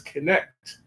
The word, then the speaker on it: Knecht: His last name is Knecht, and it's spelled Knecht.